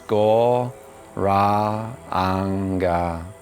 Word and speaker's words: Gauranga: called gauranga breathing so this mantra is said in four syllables go wrong so in a moment